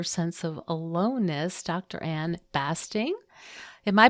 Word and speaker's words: Basting: Anne Basting, am I pronouncing that right? It's basting like a turkey.